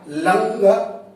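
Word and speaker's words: लङ्: उच्चारण होगा लंग लकार।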